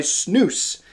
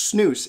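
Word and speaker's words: SNAVS: the first time uh snabs like s-n-a-v-s is pronounced snooze it blew my mind when i found this out a couple months ago but it is snooze uh it's a fairly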